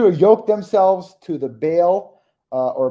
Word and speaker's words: Baal: uh of pay our bail or Baal um however you want to pronounce it but all is probably the the better pronunciation but Bale is where we typically say it um and uh there's